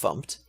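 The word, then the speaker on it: fmt: in the standard library the formatting package which is pronounced pumped and the HTTP client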